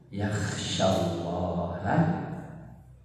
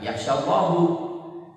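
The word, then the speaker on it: يَخْشَى اللَّهَ: Innama yakhsyallaha min ibadihil ulama'u. Perhatikan ya. Innama yakhsyallaha, jangan yakhsyallahu. Tiada yang takut kepada Allah. Kalau Ananda bacanya khasyah, innama yakhsyallahu, Allah takut.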